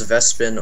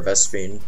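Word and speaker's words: Vespene: ah I'm out of vaspian as Justin would say yeah I'm out of vaspian too it can be pronounced vespin or vespine oh let's get another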